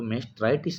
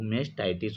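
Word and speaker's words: mastitis: तो मेस्ट्राइटिस भी ऐसे देखा हुआ लगता है, तो मेस्ट्राइटिस नहीं होता, वो मेस्टाइटिस होता है।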